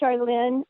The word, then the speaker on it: Sharlyn: the trees so welcome Charlene oh thank you you pronounce my name Charlene but nobody can ever say it right so it's Just sh and Lynn and now maybe if